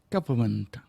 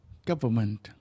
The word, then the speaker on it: government: the plumber coming to repair the burst pipe government become silent in long uh government the government is announcing its tax proposals today